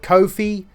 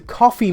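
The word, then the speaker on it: Ko-fi: coffee then it shakes see that's how you pronounce it I've heard people call it Kofi Kofi it's it's a coffee mug because you pay someone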